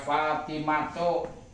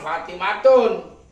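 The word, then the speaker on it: فاطمة: Atau kayak Fatimatu, iki ghairu munsharif orang lima tanwin. Orang kena diucapkan Fatimatun.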